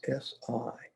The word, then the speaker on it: SI: The lung sound is written as SI, pronounced with very long I. Well, it can be deceiving. It's pronounced like air leaking from a balloon. So I don't know how you want to write that, but it's a long sound, spelled S-I, but you make the sound as though that's exactly